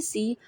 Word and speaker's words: ث: के दरमियान में हल्की सी हवा की आवाज़ के साथ निकालेंगे। ठीक है। Now today we will read सा सा सा। Place the tongue between the front teeth, pronounce it softly with air.